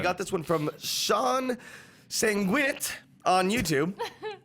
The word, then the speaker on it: Sanguinet: We got this one from Sean Sanguinit on YouTube. That's how you pronounce that, right? No. It could be. Sanguinet? He's Sanguinette. not French. Sanguinet. It's definitely Sanguinette.